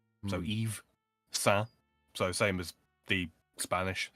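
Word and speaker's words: Yves: Laurent like it just it's just the Y is pronounced like a long E. So, Eve same as the Spanish s because it means the same thing.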